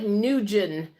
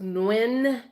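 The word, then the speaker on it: Nguyen: GE in it's like it looks like newgen but it's spelled or pronounced in it's a very common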